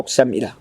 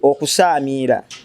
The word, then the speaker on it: okusaamira: okusamira kifu mu pronunciation teri kigambo okusamira ekigambo kiri okusaamira okusaamira kyekikolwa ky'okugatta amaloboozi nga